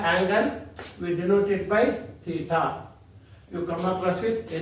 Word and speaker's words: Theta: decide what the angle we denot it by Theta you come across with a new word how to pronounce this Theta t h e d a